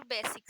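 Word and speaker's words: ب: और दूसरा वर्ड आता है बा। बा मीन्स हिंदी में भी हम कहते हैं बा, और इंग्लिश में भी हम कहते हैं बा। ये इसे प्रोनाउंस हम बी करते हैं, पर ये आवाज निकालता है बा की।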